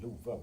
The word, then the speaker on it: Love: Honestly, my first name is L O V or in Swedish pronounced Luva, but I am also named after the English word love.